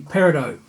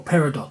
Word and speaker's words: peridot: it under the name peridot or peridot depends on how you pronounce it doesn't it and we got